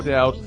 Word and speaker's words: doubt: no debit doubt doubt no doubt with a silent b um this is i